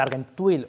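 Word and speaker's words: Argenteuil: Tenemos el trapo del lavatorio de pies, las 2 túnicas, y ahora las explicaremos brevemente, que son la de Argentuil, o como se pronuncia en francés, y la de Treveri.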